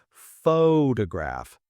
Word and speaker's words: photograph: Think about the word photograph. we stress the first syllable photograph. But for photographer, we stress the second photographer.